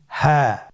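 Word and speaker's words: هاء: বাকি তিনটি হরফ আমরা এখন শিখবো। আপনারা স্ক্রিনে লক্ষ্য করুন। পরবর্তী হরফটির নাম কি? হা।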